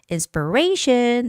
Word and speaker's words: inspiration: Inspiration, the stress is on A, inspiration.